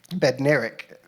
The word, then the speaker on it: Bednarek: Tell me how to say it so I don't insult her. Bednarek. One of those pronunciations.